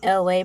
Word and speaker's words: ELAY: You made it to Freestyle Thursdays with me, LA, pronounced like LA, like the city.